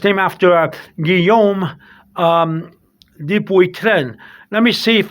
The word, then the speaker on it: Guillaume: Guillaume is it's a G. You can't see it. I'm sorry. It's Guillaume. Guillaume.